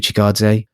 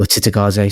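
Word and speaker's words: Cittàgazze: of a drain on the world going through Chigadze or Titagaze, sorry.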